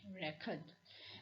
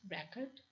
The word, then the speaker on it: record: See this example of the word record. When it will be a noun, it will be pronounced record, and when we want to use it as a verb, it will be record, record, record or record.